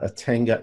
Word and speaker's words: Atenga: ATENGA. Just like it sounds, Atenga.